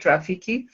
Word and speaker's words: Roffeke: how Rafiki came about it's rock and roll Film Festival Kenya but I pronounce it Rafiki um and the mission